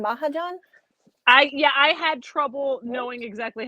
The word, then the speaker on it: Mahajan: Mahajan? I had trouble knowing exactly how to pronounce that as well. But yeah, that sounds like what I was thinking as well. Mahajan.